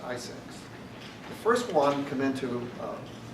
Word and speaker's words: ISAC: And one of those measures that they recommended was the creation of industry sector organizations called Information Sharing and Analysis Centers, ISAC, pronounced ISACs.